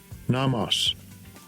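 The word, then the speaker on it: νόμος: How do they pronounce this word? Strong's G 3551, nomos.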